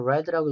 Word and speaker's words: read: 과거분사라서 read라고 읽어야 돼요.